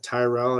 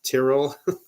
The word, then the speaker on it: Tyrrell: I may be saying it wrong as Slaughter has told me when I said Tyrell. It's Tyrrell. That's saying it wrong.